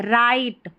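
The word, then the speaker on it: write: डब्ल्यू आर डब्ल्यू आर को र पढ़ेंगे। W silent है। राइट क्या है?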